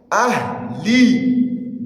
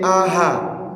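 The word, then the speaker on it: أهل: Ahli. Don't say aha. Don't give that ha'un fatha. Aywa. It is what? Ha'un sukun. Not aha.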